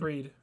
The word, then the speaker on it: Fried: They're starting pitching with is it Fried or I think it's Fried Freed. and Freed. Freed think and it's Fried. Soroka. Like first of all, you can't pronounce their names correctly, so you can't yell at them and make fun of them.